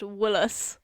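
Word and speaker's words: Gwynllyw: So, in like a bastardized English, Gwynflwyl is pronounced Woolos, so we might go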